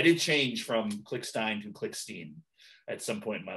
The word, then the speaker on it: Klickstein: But anyway, and then later on it became Klickstein. I think part of it is my dad says Klickstein. And so I'd always hear him say it. So I would say Klickstein, but I did change from Klickstein to Klickstein